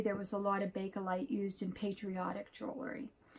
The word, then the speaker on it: Bakelite: This is an antique piece of Bakelite. A lot of people pronounce it Bakelite, but I'm told the proper name is Bakelite because I was saying it wrong.